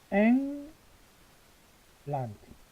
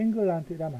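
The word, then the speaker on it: England: 영국은 앵 란트 발음할 때 앵글란트이라면 안 됩니다. 요거 앵입니다. 앵 그다음에 란트 앵란트 앵란트 그럼 이제 연구수도 런던 이렇게 적을 수 있겠죠?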